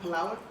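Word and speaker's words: Palawan: weeks ago we were in um is it Palwan? Is how you say Palan? Yeah, we were is it Paloan?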